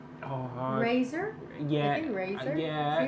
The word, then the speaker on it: Razer: Razor.